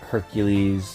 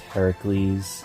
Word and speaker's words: Heracles: hates the Hercules movie quote unquote Hercules even though it should be pronounced Heracles she even pointed that